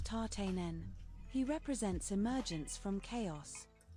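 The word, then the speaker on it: Tatenen: His name is pronounced tarten.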